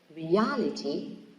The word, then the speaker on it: reality: Profits in the first syllable, reality in the second syllable.